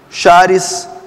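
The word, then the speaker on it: χάρις: A graça vem do grego original charis, C-H-A-R-I-S, charis ou charis, provavelmente deve ser essa pronúncia.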